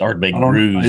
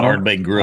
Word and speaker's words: Ardbeg Grooves: It's Ardbeg grooves, not Ardbeg groves.